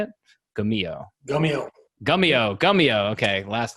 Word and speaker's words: Gummio: Gummio.